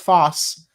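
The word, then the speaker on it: φῶς: So photosynthesis is derived from the Greek words fos which is pronounced foss um and synthesis.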